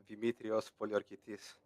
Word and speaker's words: Demetrios Poliorketes: Can you remind me how it's pronounced? Demetrios Poliokertes.